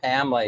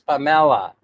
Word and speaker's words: Pamela: For example, for example, I finally realized that uh Pamela is not pronounced Pamela here. It's Pamela.